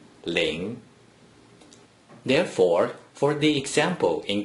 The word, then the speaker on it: 零: In other words, no matter how many zeros from the beginning of a small number inside the green circle, it is simply pronounced ling.